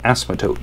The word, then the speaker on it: asymptotes: um these are called asymptotes so let me spell this out silent p on the inside so uh there there